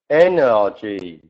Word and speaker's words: energy: And this word, energy. The way to remember this one is easy. N-R-G.